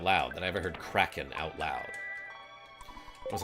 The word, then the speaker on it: Kraken: it Cen just cuz it's spelled k r a Ken right so like how am I supposed to know that that's pronounced Kraken and it wasn't until